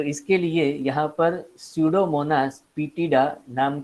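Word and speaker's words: Pseudomonas: इसके लिए यहां पर शिव मोनास पीटीआई नाम का एंजाइम लिया है स्टूडियो मॉनिटर्स पेडा ठीक है इसमें यह पीस जो है वह साइलेंट है इसको बोलना है छेड़ो महात्मा पीटीआई और यह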